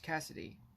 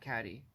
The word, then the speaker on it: Cassidy: boner and that's it so it's Butch Cassidy not caddy which caddy which Cassidy